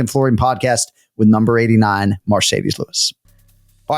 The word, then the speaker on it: Mercedes: that it is indeed pronounced marcedes and not Mercedes like the Benz is that right correct